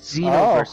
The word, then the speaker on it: Xenoverse: It's Xenoverse. Oh, I see. The Z is silent.